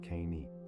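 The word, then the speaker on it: knight: Consider night. Why does it contain a K and GH once those letters were pronounced K-neat?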